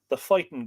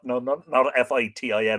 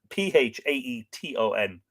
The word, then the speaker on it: Phaeton: That's the Phaeton Greeks, not Fitin or anything like that. Phaeton.